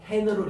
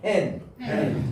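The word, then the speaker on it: ἕν: 강한 순표를 붙일 때는 반드시 발음을 히읗 발음을 내라는 거예요. 여기는 강한 순표죠. 그러니까 순표 가운데서 요거는 약한 거고 요거는 강한 거예요. 강한 거. 요렇게 나면은 n이 아니고 hen으로 읽어주라.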